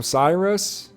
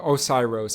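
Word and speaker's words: Oceiros: player it's like whoa osiros or Cyrus no osiros I think is how you pronounce his name uh it says yeah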